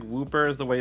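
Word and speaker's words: Wooper: pronounced it that way but it looks like whooper is the way it's pronounced and so yeah whooper all right let's just get into the battles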